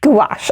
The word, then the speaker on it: gouache: to say it wrong is it gua shay uh gosh gouache okay so i have encountered